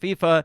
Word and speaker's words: FIFA: We have confirmed it just like I confirmed that FIFA is pronounced FIFA.